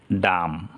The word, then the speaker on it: dumb: এখানে আছে DUMB, ডাম, বি উচ্চারণ হলো না, কারণ বি এর পরে কোনো বাওয়েল নেই।